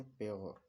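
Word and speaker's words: pure: यू का उच्चारण यो की ध्वनि में किया जाता है।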